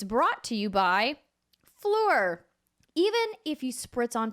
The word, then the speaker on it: Phlur: about good clean fun try floor that's spelled pH L you are floor first you get to